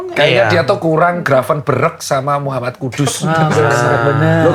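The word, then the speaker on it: Gravenberch: Kayaknya dia tuh kurang graven berek sama Muhammad Kudus Ben loh kata koci bacanya grafon beret benar kalau enggak dapat Muhammad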